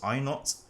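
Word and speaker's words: I₀: i not all right this is pronounced as i naught is the minimum sound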